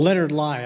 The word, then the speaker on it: Leonard Lai: Well, Leonard Lai, I believe, is that correct pronunciation? Yes.